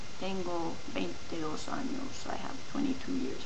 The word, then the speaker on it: años: And remember, when you say the word años, it's very important to pronounce the ñ, the ny sound, años.